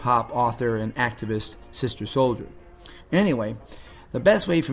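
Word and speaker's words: Souljah: by the way way it's spelled sister and then Soldier which is s o u l j a h and it was created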